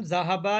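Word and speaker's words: ذهبوا: Note that there is an Alif, Alif at দ্য এন্ড অফ the word which is not pronounce. এখানে যে আলিফ আছে এটা উচ্চারণ হবে না, তাই বলছে।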